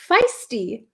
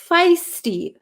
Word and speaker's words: feisty: this word before um can you pronounce feisty feisty feisty it's like a long ey feisty we had a lesson